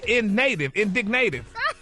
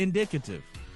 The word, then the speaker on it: indicative: It's not native. There's no N in there. The N is at indicative. Why is that so hard to say? Indicative.